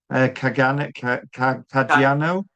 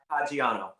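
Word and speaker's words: Caggiano: Say um you got to know um this is another interesting name which I've got to try and pronounce. Rob Kagan Kajano. Kadaniano.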